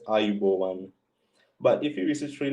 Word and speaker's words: Ayubowan: of we greet, and it is pronounced as Ayubowan.